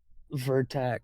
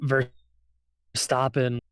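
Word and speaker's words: Verstappen: what's his face um I always want to call him uh ver uh verac but that's not how you say his name uh ver stopen and Perez uh both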